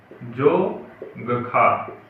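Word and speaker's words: Dzongkha: जोंगखा। जोंगखा है। ठीक है, जोंगखा मतलब डी जेड से स्टार्ट होती है इसकी, जो डी पहले जो होता है वो साइलेंट होता है।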